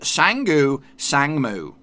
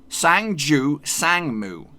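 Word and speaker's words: 상주 상무: hardest coming at you it is sang-gu sangmoo but what's not how you say it this is how you say it sangju sangmu sangju sangmu sangju sangmu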